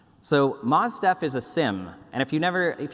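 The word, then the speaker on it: SIEM: Moz stuff is a sim and if you never if you don't know what sim is it's security information event management personally I think it should be pronounced seam but let's not go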